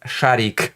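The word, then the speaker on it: Шарик: The T-34-85 tank Rudy, Ginger, with the identifying number 102, a German Shepherd dog from Siberia, Sharik, pronounced Sharik.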